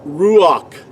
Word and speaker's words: ruach: The word ruach in ancient Paleo Hebrew is spelled resh, u. See, that's the second letter. Ruach. See, the second letter cannot be spelled with a W sound nor a V sound. So just to show you that this letter in ancient Hebrew had a standard pronunciation of u, doesn't make a W sound nor a V sound.